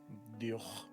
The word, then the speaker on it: diolch: Another one I say a lot here, very easy, is diolch. So diolch is thank you. Diolch. Yes, okay. Diolch. So you use that CH as a ch sound, so it's diolch.